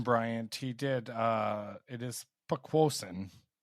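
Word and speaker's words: Poquoson: Speaking of Jason Bryant, he did it is Pequosin, is how you pronounce where he's from, and it's an Indian word meaning great marsh.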